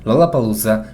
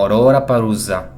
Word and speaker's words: Lollapalooza: japoneses en el Pacífico usaban la palabra Lollapalooza para separar a los japoneses de los filipinos u otros pueblos del Pacífico, ya que los japoneses normalmente pronunciarían esto como Ororapalooza.